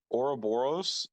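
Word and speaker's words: Ouroboros: is what I'm saying no it's not Michael oroboros is how you pronounce it I was on a product team named oroboros for over for for like oh yeah it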